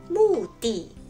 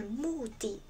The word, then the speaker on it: 目的: 比如说，目的、目的、的确、的